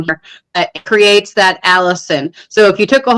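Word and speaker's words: allicin: of beneficial compounds including Alan how do you pronounce that Alan Allison Allison which is bio bioavailable when crushed and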